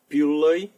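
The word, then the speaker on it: пудлый: R in it (chervenyi) The next pair is "D+L" that also becomes long L A good example is "pudlyi" (soemthing bad) Or "spravedlyvyi" can be pronounced as This one falls into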